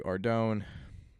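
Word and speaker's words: Ardougne: So I went to Ardone, that's how you pronounce it, and I'm just killing guard dogs right now.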